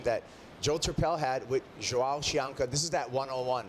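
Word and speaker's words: João: How do you like the pronunciations you've heard so far? Well, I think you just say Joao.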